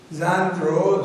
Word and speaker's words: genre: This is a word, genre, it's pronounced as genre, and it means the category or the type.